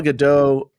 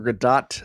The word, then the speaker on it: Gadot: In fact, there's the funny story of when Marquez Brownlee, he was on Twitter, and Gal Gadot, or Gadot, I guess it's pronounced, was making a little